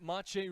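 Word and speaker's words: Matej: off the mark but he's actually got a Czech background. His mother is Czechal Slovakian and his name is spelled like mate with a J.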